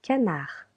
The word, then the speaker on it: canard: Last animal, un canard. Un canard. A duck. Again, this consonant here is silent.